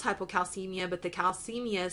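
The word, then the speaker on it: hypokalemia: hypocalcemia now if you'll notice here it's it's pronounced hypocalcemia but the calcemia spelled with a K that's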